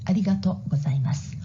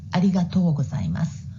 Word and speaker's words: arigatou gozaimasu: is clear improvement point you pronounce like omedetto gozaimasu arigato gozaimasu you should pronounce like omedeto gozaimasu arigatou gozaimasu you'll be better 332 comments were